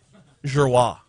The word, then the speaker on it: Giroir: was the only one that knew how to pronounce his name. Giroir.